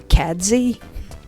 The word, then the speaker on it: Cadzie: like catechus name so instead of caddy i called him cadzie because i think that was